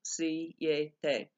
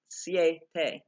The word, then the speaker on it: siete: So as we understand syllables, we're saying that instead of saying siete, that would be 3 syllables, siete. But because it's a diphthong, the I and the E are together, and so it's siete, siete.